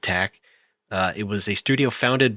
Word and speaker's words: TAC: It was produced by Group TAC, TAC, but they do want you to pronounce it TAC.